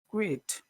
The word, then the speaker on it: quit: two quiet quiet say number three is it quit quit Muhammad how would you say number three